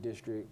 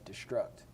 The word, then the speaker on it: DSTRKT: And if you look at it, we pronounce it District, but a little hidden gem in there is you can also look at it and it says Destruct.